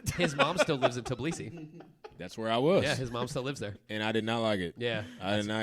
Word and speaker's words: Tbilisi: I didn't How do you say it? Tbilisi. All right, Tbilisi. Dude, I don't know. That may be the Americanized version, but that's what my uncle says, and his name is Anzor Ladze.